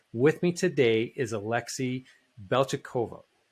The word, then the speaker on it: Beltyukov: And so with me today is Alexei Beltyukov. Beltyukov. Did I get that right? Beltyukov.